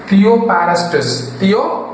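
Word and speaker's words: Theophrastus: தியோபாரஸ்டஸ். பேர் மட்டும் கொஞ்சம் வாய்ப்பு நுழையாது, இருந்தாலும் நீங்க திரும்ப திரும்ப அதை வந்து நீங்க உச்சரிச்சீங்கன்னா வந்துடும்.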